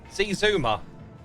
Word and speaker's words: Xisuma: it uh shwam bam is the way to pronounce it shwam bam AKA shashwami AKA XI Zuma void X AKA see Zuma I think I think that's oh go then